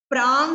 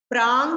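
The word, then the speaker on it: प्राङ्: प्रांग मानुषोत्तरान मनुष्याः, प्रांग मानुषोत्तरान मनुष्याः। प्रांग, इसको प्राग बोल देते हैं कुछ लोग, या प्राड बोल देते हैं, डा नहीं है, ङ है, ङ।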